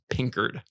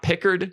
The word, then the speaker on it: Pinkered: anyone who doesn't know it's pronounced pinkered i'm just gonna say this every episode yeah we said um not pickard not pink nerd not picard that's a good one we'll